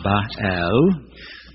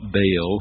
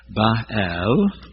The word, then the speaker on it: Baal: ancient gods and goddesses bahal you were probably taught Baal when you were a child but Scholars now know it was a two- syllable word bahal and his consort his